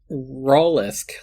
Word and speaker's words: Rollisk: I just want you to know that your chat is yelling at you, just Andre and Courtney, because it's Rollisk, like mollusk.